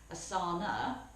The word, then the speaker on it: asana: to practice yoga and depending on where you are in India they have different pronunciations so when the original people went over they went to an area of India where they added an A on to the end so asana where as I talked